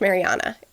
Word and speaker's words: Mariana: happened in around the Mariana Trench Marianas Trench Mariana it's pronounced Mariana the deepest part of the ocean